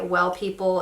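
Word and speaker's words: W3LL People: to use this one by well people it's spelled w3 ll people love this I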